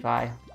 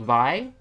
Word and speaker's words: Vi: is a character called vi um but naturally i'm pronouncing the name by but it's in this game it's v because it rhymes with b let's think of the